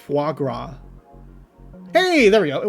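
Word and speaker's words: foie gras: the subtitles to say say it correctly correctly fuagra hey there we go it works it's also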